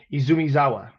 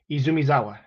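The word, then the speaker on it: Izumizawa: uh out Izumi izumia oh God I pronounced it right Izumi zawa Izumi zawa there we go because you gotta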